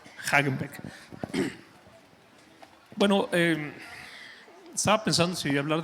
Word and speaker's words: Haghenbeck: Es como el helado. A ti que tú quieres el Häagen-Dazs, pero con el Beck. Hagenbeck.